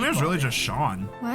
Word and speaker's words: Sean: So, you could just pronounce that as Shawn.